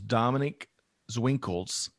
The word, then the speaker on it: Dominique Zwinkels: And I may get her name wrong. I think it was Dominique Zwinkels. That's exactly right.